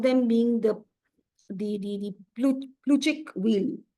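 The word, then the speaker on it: Plutchik: One of them being the the the pluchic wheel. It's called the pluchic wheel.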